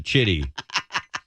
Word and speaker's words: Chitty: It's a C. It's not an S. It's a hard C there at the beginning, kids.